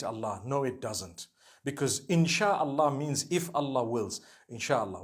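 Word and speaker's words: إن شاء الله: Inshi means to create. No one says inshi Allah. They say insha'Allah. That's what it is.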